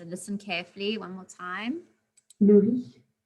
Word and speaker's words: le riz: And again, that Z we don't pronunciate the Z as if it's like a Z sound. So listen carefully one more time. Le riz.